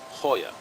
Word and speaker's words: Goya: it's lunchtime hoya sardines spelled g-o-y-a goya but pronounced hoya i think i like